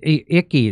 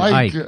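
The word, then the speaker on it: Icke: But here's what David Icky, that's how you say his name. Or is it David Ike? I It looks like though. It looks like Icky, but I think it's Ike.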